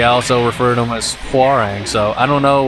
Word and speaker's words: Hwoarang: one is uh hang I think the technical pronunciation is farang but uh for whatever reason the uh just the game itself in this one in particular I mean like they say how wrong whenever you pick them